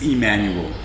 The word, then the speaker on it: Emmanuel: It's Emmanuel. You have to say it right.